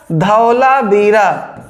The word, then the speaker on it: धौलावीरा: मोची को हो गया अब यहां से ये का साइलेंट है धू लेंगे तो ध होगा धौला बीरा क्या हो जाएगा धौलावीरा धौलावीरा अब देखिए धौलावीरा